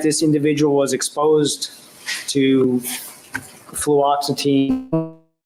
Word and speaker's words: fluoxetine: Now, fluoxetine, am I pronouncing that right?